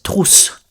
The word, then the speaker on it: trousse: Pencil case, you say une trousse. Une trousse. Sounds a little bit like truth, but it's trousse.